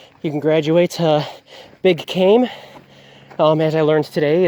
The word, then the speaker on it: Kame: Once you feel comfortable on that, you can graduate to Big Kame. As I learned today, it's pronounced Kame and not Kame.